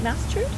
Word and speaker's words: Mastard: Is it Mastard? Mastard, yeah. I'll make sure I pronounce there it right.